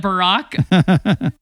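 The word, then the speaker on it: Barak: um and you know oh Brack is it Barack I can't even pronounce his name oh yeah it's not Barack Obama it's the other Barack you're the one in scripture there you go Barrick there you go see you know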